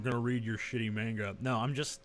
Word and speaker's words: manga: word if I write a manga it's actually pronounced manga but I've given up uh about God dying